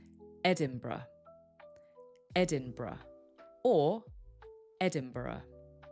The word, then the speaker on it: Edinburgh: So, it actually sounds like Edinburgh. Edinburgh or Edinburgh. Edinburgh. Please note, it's spelled differently and it has a slightly different origin.